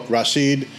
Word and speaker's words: Rachid: And the CH in French makes a sh sound. That's why it's spelled differently than you would see it ordinarily spelled. So it's Rachid.